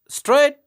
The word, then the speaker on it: straight: And in the words straight and cut, the letters GH remain silent.